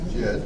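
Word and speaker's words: dźěd: Jed. Did you find Jed in there? J. S D Z. J. How would you pronounce it?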